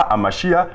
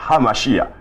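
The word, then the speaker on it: הַמָּשִׁיחַ: D'abord, mais ce n'est pas Hamashia, c'est Hamashia. Parce que là, ça ne s'écrit pas avec Aleph, ni Haïn, mais ça s'écrit avec la consonne He.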